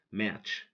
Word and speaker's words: match: Match, T is silent.